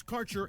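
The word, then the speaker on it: Kaercher: Quality cannabis Insurance Services is spelled k a e r c h e r that's Cure Insurance we have worked with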